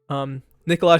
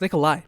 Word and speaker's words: Nikolai: Nikolaj and his brother, bro. Really, this is actually no, it's Nikolai. Nikolai's the correct way to say it.